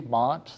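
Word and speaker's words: Maat: Spell that out for us, just sort of. So M-A-A-T, Mott.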